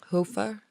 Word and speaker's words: Hoefer: Hoefer. Like that's the way to pronounce his name?